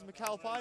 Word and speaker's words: McAlpine: with Smith James McAlpine a play clarification before the game on the pronunciation of James McAlpine has heard m been banded around but it definitely is M Pine who is on the